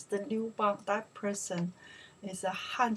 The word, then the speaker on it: 刘邦: We pronounce the Liubang.